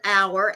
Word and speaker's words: hour: Well, I I mentioned the word hour. H Our r.